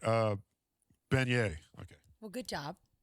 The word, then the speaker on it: beignet: All right, uh beignet. Okay. Well, good job. I'm glad you pronounced that one right. is kind of fun. Beignet. That's how it's Beignet.